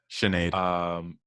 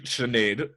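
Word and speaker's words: Sinéad: Sinead. Is that how you say it? Uh-huh. It's a Sinead.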